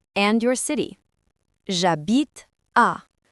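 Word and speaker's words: j'habite: The H in a is silent. So we contract a to jabit.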